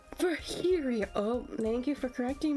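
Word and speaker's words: Virgilio: It's pronounced Verio. Oh, thank you for correcting me. Your G the G is silent.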